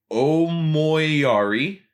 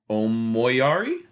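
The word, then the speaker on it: Omoiyari: with I'm going to do my best to pronounce this and I'm not trying to be funny. Perfect. The album is Omari. Omoyari.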